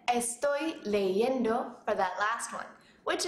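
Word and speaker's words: leyendo: All right, I hope you said estoy leendo for that last one, which is the correct pronunciation.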